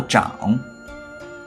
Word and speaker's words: 长: 这时他读作长，比如长者、长兄、长子。